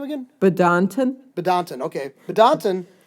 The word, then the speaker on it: Badinter: Badinton. Okay, Badinton. It's spelled like Badinton.